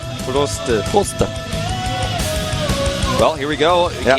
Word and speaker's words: Prost: Funny thing is that actually how the Koreans spell it, it's like the German word for cheers. It's actually Prost. Prost.